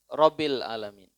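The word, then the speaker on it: رب العالمين: tasdid bacanya Seperti apa rabbil alamin rabbil alamin jadi rabbil alamin a Ain Ain bukan alamin kalau alamin itu A kalau dia a pakai Ain ya FAQ ba di atas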